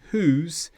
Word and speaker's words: whose: So whole, who, whose. In all of these examples, we don't pronounce the W.